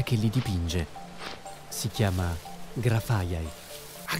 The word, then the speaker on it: Grafaiai: Si chiama Grafaiai. Ah, Grafaiai! Quindi mi sono addentrato nella foresta per trovarne degli altri. Abbiamo sbagliato a pronunciarlo fino ad oggi.